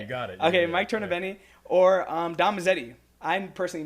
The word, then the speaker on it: Tornabene: um Bro Science um Mike torob benni I'm pronouncing the last name right you got it okay Mike torob benni or um DTI I personally know you as